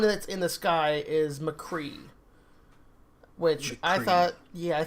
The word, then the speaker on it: McCree: in the sky is McCree which I thought yeah I think that's how they pronounce it which I thought it was Mac URI but it's actually just